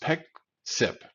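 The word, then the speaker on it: Pexip: and get CDW deeper in that customer it's pronounced Peck sip Peck see the Greek word that means to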